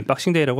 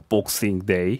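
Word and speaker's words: Boxing Day: 있겠습니다 역시 그께서 말씀하시는 우리나라 표준 발음은 미국 식이라서 우리 박싱 데이라고 하지만 영국에 있는 이건 기자는 복싱 데이 그 복싱 이렇게 발음합니다 그렇습니다 뭐 선물같은 주간이라고 말씀하셨는데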